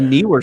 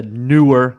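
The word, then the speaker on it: Neewer: I've got a newer, and I call it newer. I don't know why people call it newer because to me, NEE is knee. So newer.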